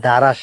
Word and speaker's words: দারস: এখন আসছি দারাসবাড়ি মসজিদে কিন্তু উচ্চারণটা কিন্তু দারাস না দারস আমরা যখন মাদ্রাসায় পড়ছি তখন আমরা এইটা আওয়াজ শুনছি দারস দার্স অর্থ শিক্ষা দেওয়া তো এটার ই হইতেছে